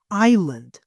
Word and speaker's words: Island: به هغه وپېژنې Iceland دا اس ساکن ده په دې ځای کې دلته اس نه تلفظ کېږي ته به Island Have you heard about